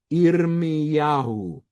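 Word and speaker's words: ירמיהו: Irm Yahoo. Irmiyahu.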